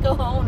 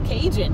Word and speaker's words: Cajon: go down the kahone pass and yes it's pronounced kahone I've lived out here for what 40 something years and it's like well there's a j in it and it's like it's Cajun and it's like all right let's get ready